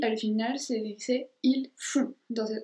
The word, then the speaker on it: font: Y al final se dice il font. Entonces otra vez no se pronuncia la T al final.